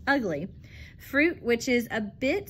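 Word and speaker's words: ugli: In Jamaica, the grapefruit was crossbred with a tangerine to produce the ugly, pronounced ugly, fruit which is a bit sweeter than the grapefruit.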